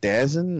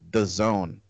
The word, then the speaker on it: DAZN: the acronym is it's spelled DAZN, but it is true. I thought it was these nuts. Yeah, it was weird, man. I was like, what is this, Dazen? Like, I didn't know what to pronounce it. It's supposedly called The Zone.